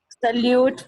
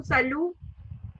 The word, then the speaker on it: Salut: Salute means hi. Again, T is silent, so salu. T is silent, Salut.